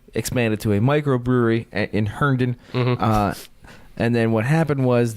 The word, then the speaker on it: Herndon: So they originally started in Herndon, Virginia. I don't even know how to say that. Herndon. Herndon. Herndon.